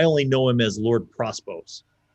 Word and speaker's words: Prospos: well he's i only know him as lord prospose how it's spelt p o p-r-o-s-p-o-s um as he says